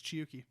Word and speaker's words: Chiyuki: were absolutely right it's chiyuki i know i wrote it down and it is it's nice because it is actually a japanese name that is spelled the way it sounds chi c h i